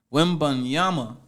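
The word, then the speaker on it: Wembanyama: got Victor let me say his name correctly women Yama as a number one pick for the San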